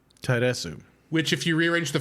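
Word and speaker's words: ターレス: In Japanese, his name is Taresu. Taresu. Which, if you rearrange the first two syllables, it becomes Reatsu or lettuce.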